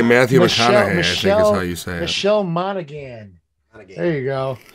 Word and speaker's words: Matthew McConaughey: is not matt no i said i said mcgonahan he's trying to say matthew mcconaughey michelle monaghan there you